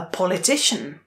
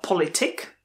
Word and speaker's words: politician: A politician. A politician. Pozor, není to politik, ale politician. Jak řeknete elektrikář?